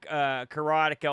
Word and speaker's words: Karateka: Adam covered Karateka on his show for Combo Chronicles, which did a great job, by the way. But he said the official pronunciation from Mechner himself is Karateka.